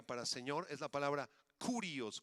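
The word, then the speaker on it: κύριος: señor es la palabra curios con k y acento en la o curios Y esa palabra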